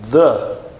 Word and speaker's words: the: um leve sopro Ok por exemplo no the the d o artigo definido em inglês D tá não é d tá the the OK The E aí tem